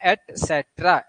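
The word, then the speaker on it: et cetera: अब ये एक ईटीसी लगा होता है, एटसेट्रा, ये लैटिन वर्ड है, इसका एक्चुअल प्रोनाउंसिएशन है एटसेट्रा, एटसेट्रा।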